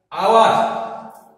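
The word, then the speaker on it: hour: শি is writing হার আওয়ার এখানে দেখো উচ্চারণটি স্টার্ট হয়েছে শুরু হয়েছে ও ভাওয়েল থেকে অতএব এখানে এন হবে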